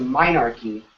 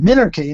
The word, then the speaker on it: minarchy: the logical conclusion to minarchy is a global government? Oh, that's what he wants to know. That's interesting question. Well, I think it's pronounced minarchy, not minarchy, but...